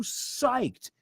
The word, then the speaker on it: psyched: ecology psyche right P it's not spelled with an S is psyche is P this is a tough one